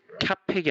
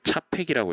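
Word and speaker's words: Čapek: 작가인 캐럴 카펙이 아니라 차펙이라고 읽더라고요. 찾아보니까.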